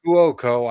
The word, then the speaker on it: Cuoco: Is that how you pronounce it? Kuoko, I think is how you pronounce her last name.